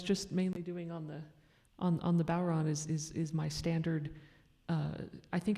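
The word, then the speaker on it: bodhrán: I say Bowron. A lot of people say Boron. I think I've heard at least a couple other pronunciations.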